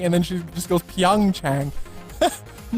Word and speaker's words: PyeongChang: I was saying PyeongChang earlier on, like some weirdo.